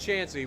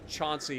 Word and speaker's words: Chauncey: Like, where I come from, your name is pronounced Chancey. We actually have a city not too far from where I grew up called Chancey, even though it's spelled Chauncey. Like, the name of the town was come up with during Prohibition, and they used that name to tell outsiders, because outsiders will pronounce it Chauncey instead of Chancey.